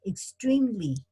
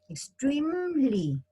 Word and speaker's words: extremely: go with the ly extremely extremely the e is not pronounced fortunately okay it's like